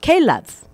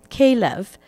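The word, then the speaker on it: כלב: So the interesting thing that I discovered about this story was in Hebrew, the word dog is pronounced kelev, kelev.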